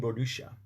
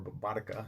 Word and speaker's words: Boudica: But that's Queen Boadicea, and so, or Boudica, depending on how you pronounce it.